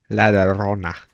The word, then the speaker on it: La Llorona: La Llorona. Yeah, La Llorona. Gotta roll the R. La Yeah. Llorona. The Have you Weeping ever heard that Woman. story, Jacoby? La Oh. Llorona. Yeah. You haven't? La Llorona.